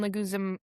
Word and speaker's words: Leguizamo: How do you pronounce John Leguizamo?